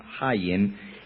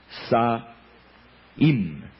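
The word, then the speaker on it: Samhain: lo habría Por cierto en idioma Celta no se pronuncia Sam Sam haen sino se pronuncia saim saim saim el dios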